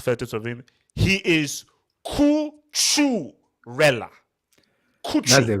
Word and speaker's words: Cucurella: His name is not Cucurella. His name is Mark Cucurella.